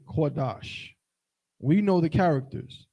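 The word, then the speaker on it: קדש: is how we look quadash quadash if we would write it into Syrian letters but in Yiddish modern Hebrew this word is pronounced like this Kadesh the problem is first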